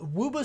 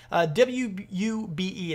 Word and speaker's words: Wube: created by a company called wubu software i believe thats how you how you say it booba wube and actually have a